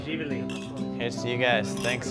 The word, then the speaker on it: Živjeli: Živjeli. Živjeli.